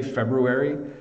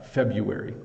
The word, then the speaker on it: February: after January um and you can say February you know if you want to pretend you're really good at pronouncing every letter um but if you check on the internet it will confirm that uh February is how we pronounce this month it's the shortest month